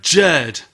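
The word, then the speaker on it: Jurd: definitely called dinosaur is Laura jerd that so unfortunately and rhymes with curd curd lemon curd I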